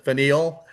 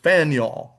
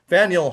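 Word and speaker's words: Faneuil: uh of the founding and it is called Faniel Hall. Okay, you can see it's f a nei. A lot of people pronounce it fine. That would be quite understandable but the actual pronunciation is Faniel. Faniel Hall.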